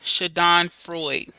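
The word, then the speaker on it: Schadenfreude: the chat in just a second but it's pronounced shadon Freud right and this is where people experience pleasure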